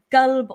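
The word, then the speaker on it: قلب: And especially because people people who don't pronounce it the right Arabic way and say like, they say kelb as opposed to qal, they are actually reciting it with the word dog in it.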